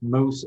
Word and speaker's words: Moes: all right well um I've been running the Moose anger management for the last 26 years and